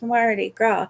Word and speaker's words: Mardi Gras: And I said, "Mama," I said, "that S is silent. It's Mardi Gras."